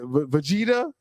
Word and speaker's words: Vegeta: Vegeta.